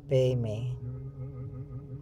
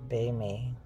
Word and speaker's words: padme: En realidad lo pronuncian peime, los tibetanos peime, y hum, lo pronuncian hung, H-U-N-G, hung.